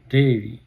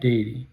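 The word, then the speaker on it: dairy: কি বলি আমরা দুগ্ধজাত প্রোডাক্ট দুগ্ধজাত বলে ডেরি ডেরি প্রোনাউন্সিয়েশনটা ডেইরি যেমন মাদার ডেরি পরের শব্দটি আমি লিখেছি মিল্কশেক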